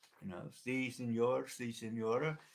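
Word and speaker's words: 四: Zhou R Si Si. Okay, it's a more like breathy si, more like a hissing kind of si. Zhou R Si Si. It's not like the Spanish si, yes, okay.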